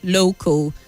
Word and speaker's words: local: hostels you mentioned Festival local the a l at the end has a weak sound so you say festival and local and not festival and